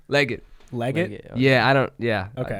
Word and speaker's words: Legat: how do you say your last name leggett leggett yeah i don't yeah okay don't ask okay it's it's spelled weird okay so if if you just